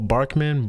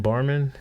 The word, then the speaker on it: Barman: Paul Barkman. Barman.